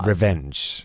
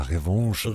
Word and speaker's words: Revanche: Nee, ich habe es auf Englisch ausgesprochen. Ah, Revenge. Alles klar. Revanche. Ja, Revanche. Revanche.